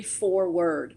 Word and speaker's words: 4Word: launched your global ministry, 4Word. And for those of you who are watching, it's the number 4 and then the word word, W-O-R-D. So it's 4Word, but it's spelled out that way.